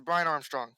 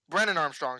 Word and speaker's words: Brennan Armstrong: it tanner mordecai versus brian armstrong this is brennan armstrong sorry i said his wrong i said his name wrong this is going to